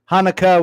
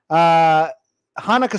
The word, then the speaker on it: Hanukkah: Hanukkah with an A, Hanukkah, or the silence. It's pronounced the same, but in this part of the country, you'll see the silent C.